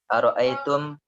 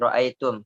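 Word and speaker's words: رأيتم: Ara'aitum, hum sama dengan apa? Afwan, ra'aitum, bukan ara'aitum.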